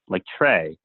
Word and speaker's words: Tsui: into Tsui, because it sounds something like Trey.